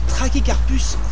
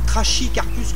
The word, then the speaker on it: Trachycarpus: juste derrière moi ce sont des trachycarpus fortunei et non pas trash icare plus comme je l'entends des fois on neeposh christophe on y dit christophe c'est du latin ch se prononce que alors on va regarder